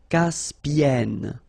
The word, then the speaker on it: Caspienne: So it does open the sound here. So it's e. Caspienne.